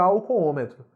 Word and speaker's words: alcoômetro: não perdeu porque porque álcoolômetro é uma palavra proparoxítona a sílaba tônica cai no segundo ó da palavra alcoômetro e esse segundo Ó tem que receber acento circunflexo você proparoxítona então não